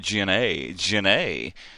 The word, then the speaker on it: Gennae: I had it written down with the big A, so I'd make sure I pronounced it Jennae.